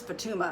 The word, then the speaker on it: Fatuma: I mean, I know that's how she pronounces her name. It's Fatuma.